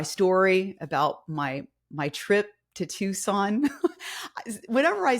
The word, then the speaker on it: Tucson: But yes, we know it's pronounced Tucson.